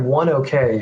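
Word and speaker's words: ONEOK: I think OKE is Oneoak. It's like one okay, or Yeah, yes, one OK. Yeah, I think it's that's how pronounced I pronounce it.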